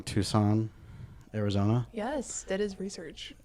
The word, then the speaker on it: Tucson: Nope, I thought it was Tuscan. Oh, okay. And then I had to look up how to pronounce it.